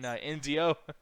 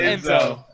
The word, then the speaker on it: Enzo: he's making fun of you for saying fucking NZO. You say his name like that every time, Anthony. I swear to God. What is this? Enzo? It's Enzo.